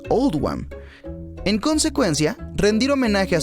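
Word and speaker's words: Oldham: se hizo para reflejar la pronunciación de oldhem en el acento local que es all One en consecuencia rendir homenaje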